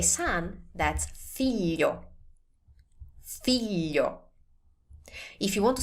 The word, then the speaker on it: figlio: If you want to say son, that's figlio.